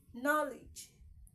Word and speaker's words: knowledge: you understand me knowledge knowledge knowledge knowledge knowledge I did not say knowledge not knowledge knowledge okay the K in knowledge is silent even though there is presence of K in it you don't say no